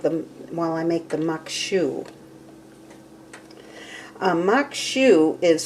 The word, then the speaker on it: maque choux: while i make them while i make the muk shoe makshu is spelled m-a-q-u-e-c-h-o-u-x and it is pronounced machu i did find that out in my research